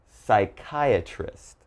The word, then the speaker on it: psychiatrist: So as you notice, PS is very common, but don't say the P, all right?